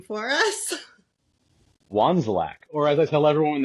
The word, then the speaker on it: Wandzilak: Please pronounce your last name for us. Wanzlac, or as I tell everyone when they ask how it's pronounced, I say carefully.